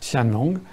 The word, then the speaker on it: Qianlong: mandchoue et sous l'empereur qianlong ça s'écrit qu i am l ong ça se prononce qianlong et c'est un âge